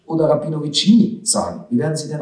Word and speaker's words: Rabinovici: am ende geschrieben ja soll ich dann also rabinowich oder rabinovici nie sagen wir werden intern ausgesprochen dass gefahren informieren in norwich aber als